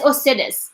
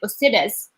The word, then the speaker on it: ustedes: And then I have to be careful about the sounds because they are pronounced as they are. And for the U is pronounced O. So I say like ustedes.